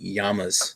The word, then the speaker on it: llamas: learned something new today with the double Elle's pronounces a Y in Spanish so it's technically Yama's instead of llamas useless information anyway enjoy